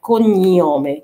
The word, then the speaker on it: cognome: خلي بالنا احنا خدنا ان جي ان بتتنطق ني، كونيوم، كونيوم، اوكي، نومي وكونيوم.